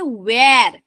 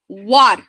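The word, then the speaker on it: were: তো ডব্লিউ ই আর ই এটা আমরা বলে থাকি অনেকে ওয়্যার, ওয়্যার, না এটা কিন্তু ভুল উচ্চারণ।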